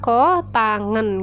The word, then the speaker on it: kotangen: Oh ya Ko ta ngan nah ini cara bacanya Ya bukan yang saya tadi saya Sebutkan loh agak Sasak nanti sebutannya ini adalah kotangen gitu ya kotangan itu samping bagi depan lah